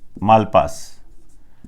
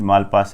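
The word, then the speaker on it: Malpass: Jim Yong king को आप छोड़िए, डेविड मालपास, डेविड मालपास है, ये प्रोनाउंसिएशन ऐसे होता है, कई किताबों में कोई मालपोस लिख देता है, ऐसी कोई समस्या है क्रिएट मत करना कभी।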